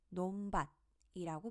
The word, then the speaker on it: 논밭: 논밭이라는 단어를 봅시다이 단어는 논밭이라고 발음됩니다 논의 받침은 니은이기 때문에 그대로 니은으로 발음하지만 밭의 경우에는 받침 티읕을 음절의 끝소리 규칙에 따라 디귿으로 바꿔줘야 합니다 그래서 논 밭이 되는 거죠 계속해서 옆에 단어 낮은